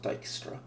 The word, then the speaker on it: Dijkstra: this is Dijkstra's algorithm that is a Dutch spelling so it's pronounced Dijkstra we were going to